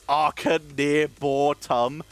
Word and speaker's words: Arconauts: So here's where I find out it's pronounced Arconauts.